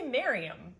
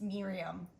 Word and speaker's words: Miriam: Miriam tells me I say her name wrong, and she's wrong. Well, you say Miriam. That's not my name. It's Miriam.